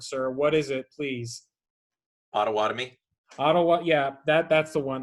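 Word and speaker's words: Pottawatomie: I can never pronounce that word, sir. What is it, please? Ottawatomie.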